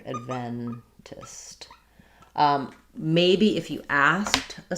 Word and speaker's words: Adventist: If I'm saying Adventist, then I'm going to lose that clear a. It's going to be much shorter and more almost like an I sound, id or adventist. And that would have second syllable stress. My E then would be clear, Adventist.